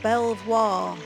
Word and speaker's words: Belvoir: three of the crown the castle was named Belvoir meaning beautiful view by the french-speaking Norman Invaders of the 11th century but the native Anglo-Saxon population was unable to pronounce such a foreign word referring to call it Beaver castle by which it is still known today birds are prey probably